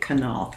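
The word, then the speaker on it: Knoth: guy now called Kyle knock you actually pronounced it Canal k-n-o-t-h he's a guitar player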